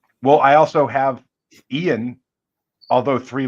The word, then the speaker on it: Ian: oh what's wildest uh I've had Lan Yan ion ion Eon a um but the Lan